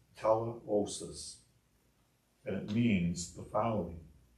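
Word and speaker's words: τελείωσις: The Greek translation, as used here, is pronounced teleosis, and it means the following: a fulfillment of, an accomplishment of, the event which verifies a promise.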